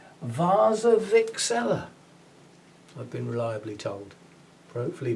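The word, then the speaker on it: Warczewiczella: the english language w-a-r-c-z-e-w-i-c-z ella and apparently it's pronounced vasa vixela i've been reliably told hopefully by somebody who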